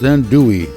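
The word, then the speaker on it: andouille: Pronounced then dewy.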